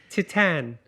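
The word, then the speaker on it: Titane: starts with a T Tian yes titanium it's like it's like titanium yeah but French right right m i i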